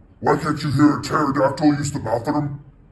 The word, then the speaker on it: pterodactyl: can't you hear a pterodactyl use the bathroom because the p is silent first thing we're talking